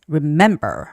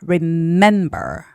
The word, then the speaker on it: remember: Evening has the first syllable stress and then the word remember has the second syllable stress. Remember. Remember.